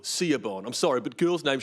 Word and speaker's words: Siobhan: You'd think there'd be a V in there, but it's spelt Siobhan.